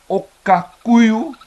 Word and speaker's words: Okakuyu: But I have confirmed with Oshivambu friends of my own that indeed Okakuyu is the correct pronunciation.